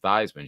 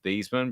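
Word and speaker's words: Theismann: on same thing with theisms you know that it was thiesman but he changed the theism because it rhymes with heisman did not yeah that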